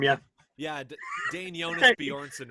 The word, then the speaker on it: Bjornson: yeah yeah dane jonas bjornsson right yeah it sounds very gimli yes yeah two j's but you don't really pronounce any of them right right yeah you think